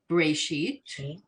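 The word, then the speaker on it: בראשית: It's a word that can be either with a B sound at the beginning or a V sound at the beginning. So the first word in line 12, breshit. We all recognize breshit. And then it's without the dot in the first letter, so it's v'reshit.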